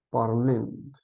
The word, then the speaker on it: parlent: Recordemos, no se pronuncian las S ni las E. Entonces entonces tomamos la base, que es parl, ¿cierto? Recordemos, se le eliminan las últimas dos letras, parlent, ¿cierto?